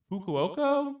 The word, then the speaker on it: Fukuoka: I think it is Fukuoka, I think.